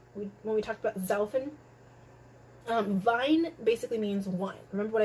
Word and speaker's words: Wein: Wein basically means wine. Remember what I said? W's are pronounced as V's.